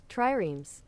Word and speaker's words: triremes: Let's see how to pronounce this. Triremes.